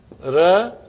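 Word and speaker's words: رأى: So if I say ra'a, what is ra'a, brothers and sisters? To see. Now, I say ra'a. I say ah. Okay? I'm making the pronunciation of alif here.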